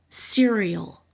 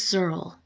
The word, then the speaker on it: Cyril: then she calls him cereal his name is Cyril she literally pronounces it cereal so if you pay